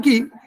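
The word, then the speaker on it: qi: हर organ की एक energy है, की है, इसको की हम लोग ची बोल रहे हैं ना, वास्तव में ची प्रोनाउंसिएशन है लेकिन हम लोग की बोल रहे हैं।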